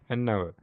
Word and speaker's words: hour: But when we say our, the H is there, but we don't pronounce it. That is why we have to pay attention for not only for the letter, but for the pronunciation. That is why I say an hour, not hour. It should be an hour.